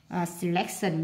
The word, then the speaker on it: selection: Selection nhấn âm 2, vegetable nhấn âm 1,